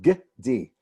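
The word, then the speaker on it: גדי: This is the word gdi, and that is called a shva, and it indicates, in many cases, a little half vowel.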